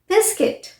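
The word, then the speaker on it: biscuit: UI combination is pronounced as I. UI अगर आपको word में दिख रहा है तो उसे आप I की तरह प्रोनाउंस करेंगे मोस्ट ऑफ टाइम, जैसे सर्किट, बिस्किट।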